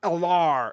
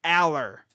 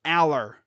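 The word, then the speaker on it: Allar: pronounce that dude's name, it's not Alar, it's Aller. Coming from a guy who lived around where he played. I saw him play in high school. That's how you say his name, not Eller.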